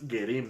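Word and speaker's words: גרים: Pronuncia menos la J. Exacto, no es J, es G, ¿no? Más suavecito. Fíjense cómo es Gerim, ¿no?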